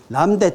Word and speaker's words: 람다: 더 썼다 그러면은 그때 기업은 정과하게 생산량을 람다만큼 더 늘리더라. 그죠? 여기에 이제 사실 이 문제의 의도는 뭐냐면은 람다의 뜻을 설명하고 싶은 거예요.